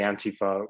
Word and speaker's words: Antifa: So you can pronounce them either way. I say Antifa more in line with the European pronunciation, since the original Antifa started in Europe.